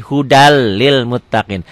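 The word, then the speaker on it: هُدًى لِّلْمُتَّقِينَ: ketemu lam idgham bilagunnah Hudan Lil Muttaqin dibacanya jadi hudalil Muttaqin n-nya jadi hilang tuh udah Lil Muttaqin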